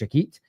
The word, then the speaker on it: Jacquet: I think it's pronounced Jakit.